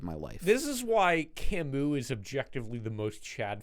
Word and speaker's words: Camus: life this is why Camus is objectively the most Chad philosopher of the 20th century he has a gay name if you have silent letters in your name he's French it's not his fault